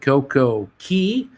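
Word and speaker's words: CocoCay: a perfect day at coco key or coco k depending how you like it pronounced uh we'll do that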